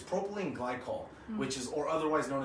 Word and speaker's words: propylene glycol: flavorings is back to look down to it pronounce it correctly it's propylene glycol which is or otherwise known as a good